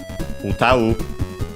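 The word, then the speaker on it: 歌う: this case the verb utau, unaccented, this one, so be careful, as uta on its own is accented on the last syllable, while the verb is unaccented, utau.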